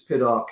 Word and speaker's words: Piddock: people say do you how do you pronounce it in america i guess it's pitiful english it's pid arc in america but most people just call me you know whatever however you want to pronounce it so um yeah